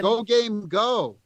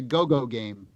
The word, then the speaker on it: Go Game Go: Go Game Go. So I always mispronounce it and I say Go Game.